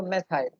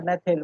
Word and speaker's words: methyl: तो मेथेन है CH4, CH3 हो जाएगा तो मेथाइल या मेथिल, व्हाटएवर आप जो प्रोनाउंसिएशन प्रेफर करें।